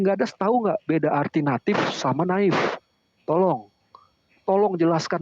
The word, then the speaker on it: natif: Kenapa Deki bacanya jemaat naif? Harusnya natif.